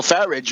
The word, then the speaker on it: Farage: If you looked at old Nigel Farage, rhymes with garbage, at the beginning of the evening, he said, "Oh, I think we probably lost.